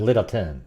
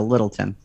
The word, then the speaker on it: Littleton: and sort of no you got to say it all together littleton okay not like little